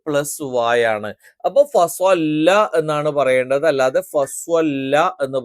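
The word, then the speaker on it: فَصَلَّىٰ: അതിനുപകരം ഫസ്വല്ല ഫസ്വല്ല ഫസ്വല്ല എന്ന് ഉച്ചരിക്കുമ്പോൾ നമ്മൾ വാവ് ഉച്ചരിക്കുന്നതുപോലെ ചുണ്ട് വൃത്താകൃതിയിൽ വരില്ല അതേസമയത്ത് സ്വ എന്ന് പറയുമ്പോൾ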